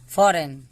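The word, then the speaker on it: foreign: Sign, फॉरेन, सब में एन के पहले जी है, एन के पहले जी है, तो इसका उच्चारण नहीं होगा।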